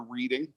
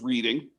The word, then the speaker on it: Reading: Reading, and we're sure that he pronounced it Reading because it has been misspelled in many places as R-E-E-D rather than R-E-A-D. And of course, everybody knows Reading, Pennsylvania is R-E-A-D. It's not Reading, it's Reading.